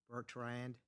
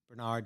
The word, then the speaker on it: Bernard: Steve Bertrand. Bernard, sorry.